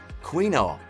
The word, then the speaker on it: quinoa: Quinoa. Quinoa, pronounced quinoa, is commonly known as a super grain because of its exceptional nutritional value.